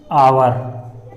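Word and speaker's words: hour: की जो साउंड है वो एच ना निकल के क्या निकलती है, आवर, ऐसे। तो इस वजह से यहाँ पर हम क्या करते हैं, हिंदी में उसका अर्थ निकालते हैं। हिंदी में पहले उसको प्रोनाउंस करते हैं, तब उसका जो है आर्टिकल प्रयोग करते हैं। तो यहाँ पर एच की साउंड एच ना होके एच क्या हो जाता है, साइलेंट हो जाता है, और आ की साउंड निकलती है।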